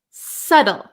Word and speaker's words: subtle: you've got it now we also have a silent B so we pronounce this word SLE SLE subtle subtle okay so this one is a little bit tricky because um we have this T sound right we have a the letter T so you could say subtle subtle um but in American English I'm from America in American English this te becomes a flap te so a flap te